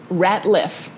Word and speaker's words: Ratliff: Ratliff.